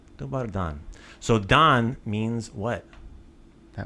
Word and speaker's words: Dobar dan: Dobar dan. Dobar dan.